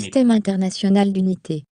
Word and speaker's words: Système international d'unité: This is the actual pronunciation, okay, as I told you, SI unit. Système international d'unité.